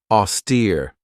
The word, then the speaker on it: austere: Austere. This has two syllables and the stress is on that second syllable with that long e sound.